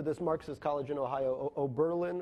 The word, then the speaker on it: Oberlin: Marxist college in Ohio, Oberlin or something, and I think it's on the penultimate syllable, the stress. Anyway, at a Berlin, all of a sudden